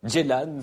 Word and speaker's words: Ceylan: Nuri Bilge Ceylan ou Ceylan, une amie turcophone de la rédaction, vient de me dire qu'on disait Ceylan.